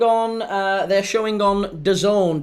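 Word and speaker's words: DAZN: Get the the Done app.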